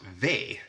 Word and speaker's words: V: Then we have the letter V, which in Swedish is pronounced ve, and if you say ve och fasa, it basically means the horror, the horror.